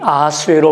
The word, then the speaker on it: 아하수에로: 제일 먼저 등장하는 인물이 아하수에로 왕이죠. 아하수에로 왕은 페르시아의 왕으로서 일반 역사에서는 크세르크세스라고 하는 이름으로 등장합니다. 아하수에로는 히브리식 발음이고요. 크세르크세스는 헬라식 발음입니다.